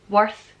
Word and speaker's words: worth: Worth, even though it's an O, it's pronounced with a U, and earth is pronounced with an E, like a strong E.